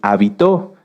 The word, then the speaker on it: habitó: Y si lo cambiamos hacia el final, es habitó, que viene de habitar.